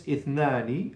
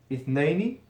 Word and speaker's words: اثنين: So its root form is ithnani, like in the book, and sometimes it's like this, ithnaini. So who of you can show me the difference between this number 2, ithnaini, and this is when a preposition comes before it, ithnani becomes ithnaini.